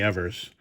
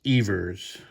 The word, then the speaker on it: Evers: and once again I think I called him Johnny Evers the actual pronunciation of his name is Johnny Evers well but beautiful card